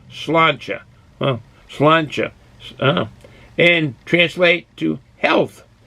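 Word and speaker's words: Sláinte: To say cheers in Irish most simply tells someone Slanty, S-L-A-N-T-E with a slash on it, which is pronounced slancha.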